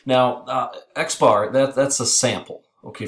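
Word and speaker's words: x̄: we use this typically x with a bar x bar is how we pronounce that that is typically how we use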